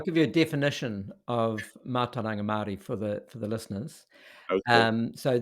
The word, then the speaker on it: Mātauranga Māori: Um, Mātauranga Māori. There you go. Mātauranga Maori. I'm trying to learn to pronounce these words, but I don't have any Maori in Yeah, Chicago that's right.